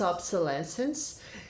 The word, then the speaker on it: obsolescence: let's sense obsolescence obsolescence let me see the pronunciation here obsolescence yeah it's obsolescence it's it's written this way right this is